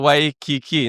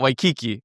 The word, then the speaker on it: Waikiki: Yeah, you're staying in Waikiki, not Waikiki.